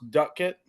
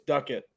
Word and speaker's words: Doetkott: is a g and last name is pronounced Ducket yes Ducket no one it is not all it's Ducket get it right you bet right Sam you